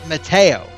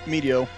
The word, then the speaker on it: Meteo: I've always pronounced it Mateo. Oh, Meteo, because I couldn't fit Meteor.